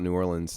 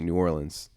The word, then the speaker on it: New Orleans: funny is that like if you asked me about New Orleans I'm gonna say New Orleans but if I sing it I'm gonna say New Orleans just because it rhymes so much better and I feel like everyone does that even people in New Orleans yeah they'll say New Orleans no one says New Orleans my my friend Rachel